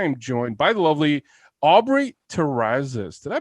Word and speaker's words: Aubrey Terrazas: the show i am joined by the lovely aubrey terrazas did i pronounce that correctly you pronounced it perfectly amazing